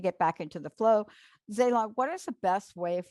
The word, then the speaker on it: Zalah: to get a hold of me my name is spelled zayla z a l a h said a l